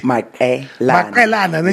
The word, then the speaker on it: Maqelena: Maqelena. Yes, as in small girls.